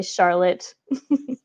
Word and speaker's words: Charlotte: La seule exception, c'est Charlotte.